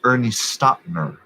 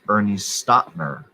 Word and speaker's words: Ernie Stautner: eight camel chosen now um sir it is ernie stottner it's pronounced ernie stottner mr eight camel toes a camel toes man